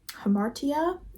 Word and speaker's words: hamartia: for you guys for hamara hamartia hamartia I believe is what it is pronounced as I I just looked